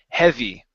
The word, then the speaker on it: heavy: he he heavy okay so he open up your mouth just a little bit more for that short e e he heavy heavy good so much